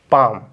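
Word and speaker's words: palm: इसके बाद इसको पढ़ेंगे पाम क्या पढ़ेंगे देखिए एल एल के बाद एम है ना तो एल साइलेंट इसको बोलेंगे पाम पाम मींस होता है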